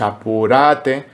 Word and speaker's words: apúrate: Entonces, a pesar de que se escriba apúrate, nosotros lo escribimos apurate porque eso nos ayuda a colocar el acorde en la sílaba correcta.